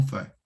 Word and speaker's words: fait: Qu'on fait. Ouais, A plus I, je prononce E.